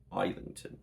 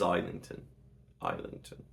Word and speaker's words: Islington: Islington. It is Islington. Islington is how I pronounce it because I'm English.